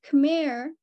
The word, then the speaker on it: Khmer: to her, I remembered how I had to butcher the pronunciation of Khmer in my PhD defense to be more comprehensible for those knowing the Khmer Rouge as the Khmer Rouge instead of the Khmer Rouge.